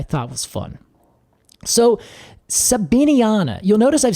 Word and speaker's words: sabiniana: really what I thought was fun so so sabiniana you'll notice I've said that several times with